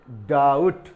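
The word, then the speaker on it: doubt: और हमने आपको बताया कि जब डबल कंसोनेंट होते हैं तो एक कंसोनेंट का उच्चारण साइलेंट हो जाता है। तो यहां पर इसको हम पढ़ेंगे डाउट।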